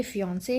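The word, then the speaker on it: fiancé: Okay, लेकिन pronunciation दोनों की फियांसे ही होने वाली है।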